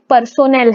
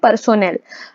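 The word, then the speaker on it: personnel: देखो यहाँ पे पर्सोनेल है, इसको क्या प्रोनाउंस करेंगे? पर्सोनेल। एक होता है पर्सनल, ठीक है, और एक होता है पर्सोनेल। जब हम बिजनेस रिलेटेड स्टाफ की बात करते हैं तो हम पर्सोनेल का यूज करते हैं।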